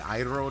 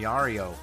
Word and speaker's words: Idro: You know how long it took me to get Idro down? I was calling him Yario.